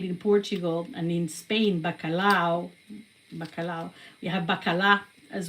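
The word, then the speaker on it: bacalhau: And I have so much more to say about bakalao. So like I said, balao is spelled with b a c a l h au.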